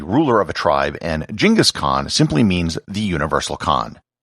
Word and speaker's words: Genghis Khan: of a tribe and genghis khan simply means the universal khan and it's also sometimes pronounced chingas khan but i'm going to continue with the anglicized genghis khan for the rest of